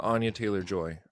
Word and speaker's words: Anya Taylor-Joy: Anya Taylor-Joy.